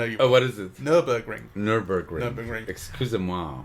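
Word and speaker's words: Nürburgring: mention at this point that we did the NuvaRing together you drove no but I was a passenger on the NuvaRing one day you'll pronounce it correctly I know you know what is this Nurburgring Nurburgring excuse moi it's Jeff yeah no we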